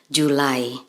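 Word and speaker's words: July: Juli dalam bahasa Indonesia dalam bahasa Inggris pengucapannya menjadi julai Oke selanjutnya bulan yang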